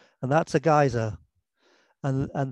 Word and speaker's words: geyser: um this is a giza and that's a geyser and and the term geyser comes from icelandic uh and it was